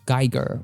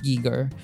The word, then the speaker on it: Giger: However, I am rather familiar with a certain Swiss artist behind the design of the xenomorph, H.R. Geiger, or I think it's supposed to be pronounced Giger.